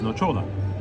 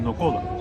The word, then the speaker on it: nocciola: know why they don't like combining pistachio, I'm pronouncing it the Italian way, but pistachio, and hazelnut, which is nocciola, or nocola, wait, nocciola, right?